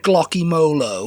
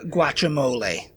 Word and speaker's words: guacamole: I've Someone came out Glocky Molo. Glocky molo. That was that woman on Bake Off. Yeah. Have they had a Mexican? I'm sure. No, I'm sure other people have said that. Have other British people have pronounced it that way, too. Glocko. Glocky molo. Guacamole. Guacamole. No, guacamole.